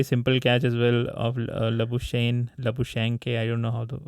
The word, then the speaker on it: Labuschagne: Plus, he dropped a very simple catch as well of Labuschagne. I don't know how he's pronounced. Labuschagne.